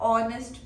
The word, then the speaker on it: honest: यूज हो रहा है, ऑनेस्ट पर्सन। अब ऑनेस्ट की स्पेलिंग क्या है? HONEST, लेकिन ये H जो है साइलेंट है, तो ये हमेशा O साउंड से हम स्टार्ट कर रहे हैं।